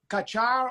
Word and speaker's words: Kattar: pronounce the last name is it kachar or uh cater we say cater but honestly i hear it every which way but cater yeah well you guys